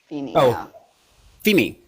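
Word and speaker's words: Vini: part of my name it's v i n i but you pronounce the V like an F FEI yeah exactly now I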